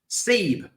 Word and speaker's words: Sebe: Zeb or Sebe? Sebe. Oh, okay. Yeah, Sebe. They spell it wrong, but it's Sebe. It's C-E-B.